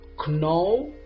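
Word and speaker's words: know: to the next word the next word is do I say no or no this word is too easy now the silent letter is K so the right pronunciation of this word is no very good let's move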